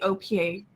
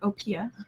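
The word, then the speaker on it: OPEA: This is the aim of the OPA, or OPIA, depending on how you want to pronounce it, reference architecture, open platform for enterprise AI.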